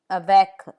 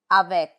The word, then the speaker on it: avec: C, like in avec, with, avec.